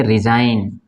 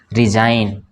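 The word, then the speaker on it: resign: है ना कौन साइन इसको पढ़ेंगे रिजाइन क्या पढ़ेंगे रिजाइन रिजाइन तो यहां पे जी साइलेंट अब यहां पढ़ेंगे इसको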